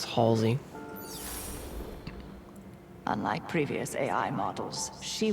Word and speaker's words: Halsey: I always pronounce it Halsey. It's Halsey.